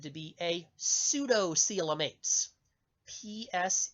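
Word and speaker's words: pseudocoelomates: o seal it is said to be a pseudo cielo mates PS e you do CE o e l o ma te s sudo Cielo mates and I'm looking at the handout I printed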